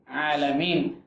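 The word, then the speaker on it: العالمين: അപ്പോൾ അൽഹംദു ലില്ലാഹി റബ്ബിൽ ആലമീൻ കറക്റ്റ് ഉച്ചാരണങ്ങൾ വരണം. അൽഹംദു ലില്ലാഹി റബ്ബിൽ ആലമീൻ. ഇനി അവിടെയും നേരത്തെ പറഞ്ഞതുപോലെ തന്നെ അലിഫ് വ ഇയ ഈ അക്ഷരങ്ങൾ അധികം നീട്ടാൻ പാടില്ല. അൽഹംദു ലില്ലാഹി ഇല്ല, റബ്ബിൽ ആല അങ്ങനെയില്ല.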